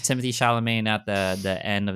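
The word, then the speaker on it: Timothée Chalamet: coming out too Wonka so like hella it's Timothy shamain at the the end of this saying his name wrong I'm probably saying his name wrong but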